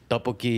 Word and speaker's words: tteokbokki: Tteokbokki. Tteokbokki, yep.